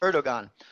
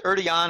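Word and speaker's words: Erdoğan: ER erigon I mean I'm told that I mispronounced the name but I'll just pronounce it how it looks in English erdogan uh I hear it's erdon or something like that erdogan anyway president of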